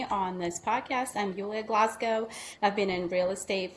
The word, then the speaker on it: Glasgow: And today we have Julia Glascow. Am I pronouncing that correctly? Glasgow. Like the Glasgow. Just Okay. Just like in Scotland.